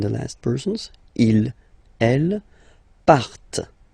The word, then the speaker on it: partent: And the last persons, il, elle, partent. Remember, classic ending, ENT, but then you don't pronounce them, partent, partent, okay?